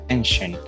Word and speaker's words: Genshin: Well, this depends on the fact that the developer uses Japanese pronunciation Genshin for this word, not only for the Chinese market, but also for the global market.